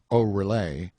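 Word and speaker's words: Oreillé: higgins the honorable mrs patrick orrey pronounced o relay miss bridget pronounced brije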